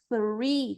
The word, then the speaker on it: three: Qual que é o problema se a gente falar esse three com som de T ou com som de F, que é o que acontece muito com o estudante brasileiro? A palavra tree é árvore e a palavra free é livre. É claro que dentro de